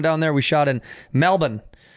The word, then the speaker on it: Melbourne: there we shot in Melbourne uh or Melbourne As Americans say it and uh Cena Efron